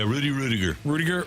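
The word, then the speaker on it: Ruettiger: How do you say it? Is it Rudiger? Yeah, Rudiger. Rudiger.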